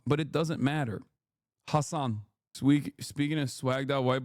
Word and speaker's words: Hasan: How do you pronounce that? I already told you it's Hassan, but it doesn't matter. Hassan Speaking of swagged out white boys relevant real.